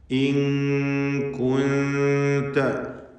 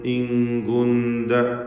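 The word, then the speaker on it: إن كنت: ഇൻ കുൻത നല്ല ശ്രദ്ധ വേണം. കാഫും താവും ഒക്കെ ഷിദ്ദത്തുള്ള അക്ഷരങ്ങളാണ്, ഹംസുള്ള അക്ഷരങ്ങളാണ്. അത് ഇങ്കുന്ത എന്ന് പറഞ്ഞു പോകും ചിലർ. മലയാളത്തിൽ ഇതിന് തുല്യമായിക്കൊണ്ട് തെറ്റാണ്. ഇങ്കുന്ത കാഫ് താ അതിൻ്റെ ഉച്ചാരണത്തിൽ യാതൊരു കുറവും വരരുത്. ഇങ്കുന്ത എന്നായി പോരുത്.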